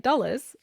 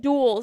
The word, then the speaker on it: Dulles: That's how you say it, Dulles. Oh, I thought no, I said duels. That's what it was. Duels. I said duels. Most people say duels.